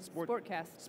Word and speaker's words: SportXast: SportXast.